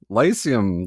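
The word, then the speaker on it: Lyceum: The Lucium Lysium Theater. Lysium. Famous theater. Lysium. Like the lice like bed bugs and head lice.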